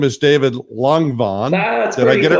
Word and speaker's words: Langevin: his name is David Langevin. Did I get it right, David? Okay, tell us the way it should be. It's a French name, and it's pronounced Langevin. Langevin.